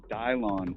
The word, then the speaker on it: Dylan: played with anyone like Dylan before, and were you surprised by this glow up, or have you been seeing it coming from a mile away? Well, it's actually pronounced Dylon.